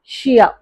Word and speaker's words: chia: இது வந்து சியா கிடையாது, ஷியா.